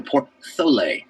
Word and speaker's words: porthole: If you have a T and an H next to each other, they make the th sound, so it's a porthole.